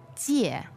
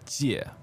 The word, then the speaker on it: 借: Yes, it is 借, 借, fourth tone. Okay, J-I-E, fourth tone, 借.